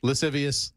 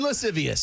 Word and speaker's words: lascivious: Lascivious. I can't pronounce it. I knew that it was there. It was there and I just skip them. Luden lascivious.